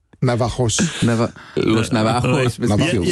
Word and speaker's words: Navajos: Navaros. Dieu du ciel. Je pense que le J se prononce Navajos.